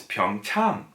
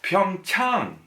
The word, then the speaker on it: Pyeongchang: now I see it's Pyong tongue ah so pyoung Tong that's how it's pronounced so think of it as ah now I get it ah now I see so it's an AH